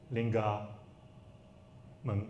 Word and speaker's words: Long Yamen: For example, Long Yamen. What do you think? If you pronounce it as Hokkien, it will be Linga Meng, right?